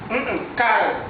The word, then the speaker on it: case: Case, pas case, case. C'est-à-dire ici la lettre S se prononce comme si c'est la lettre Z, si.